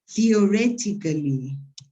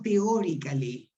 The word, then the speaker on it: theoretically: Theoretically. Teóricamente es theoretically, no teórically.